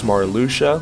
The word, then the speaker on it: Marluxia: of all now I am aware that some pronounce his name as maruia like he's some sort of Transylvanian torturer but I played Kingdom Hearts chain of Memories on the Game Boy Advance which was a text based game meaning that I pronounced his name as it was spelled marluxia while he was unquestionably